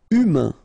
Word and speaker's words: humain: Humain, remember, H is not pronounced, A-I-N, un, humain.